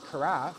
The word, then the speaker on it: carafe: And there's no work involved other than just placing the cup right here and putting the carafe, which rhymes with giraffe, right here at the side.